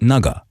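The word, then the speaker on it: 那个: It's a Chinese word, and it means, it's a filler word like, and it's pronounced naga.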